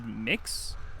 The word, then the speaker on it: Mx: and generally accepted is M X which I choose to pronounce as mix which I don't know